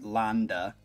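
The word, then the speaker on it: Lande: the vocals performed by jorn land pronounced jorn Landa okay now don't think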